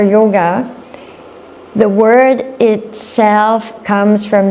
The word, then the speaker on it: yoga: So sometimes you will hear yog right. Um so this yog or yoga the word itself comes from the Sanskrit yuj.